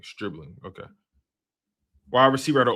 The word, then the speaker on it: Stribling: How you pronouncing this dude name? Streebling.